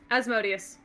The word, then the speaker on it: Asmodeus: okay is it okay is is are we pronouncing it as modius or asmodeus asmodeus okay is he forcibly trying to get me